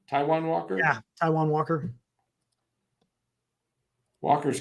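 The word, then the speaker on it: Taijuan: against how do you say his first name Taiwan Taiwan Walker yeah Taiwan Walker Walker's got an RA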